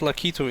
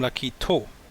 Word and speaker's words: Lakitu: game and i put lakitu in there and i called him lucky toe with an o at the end and everyone told me no it's like he too was i why why